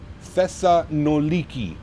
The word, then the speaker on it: Thessaloniki: Thessa noliki. Mhm. That's how you say it.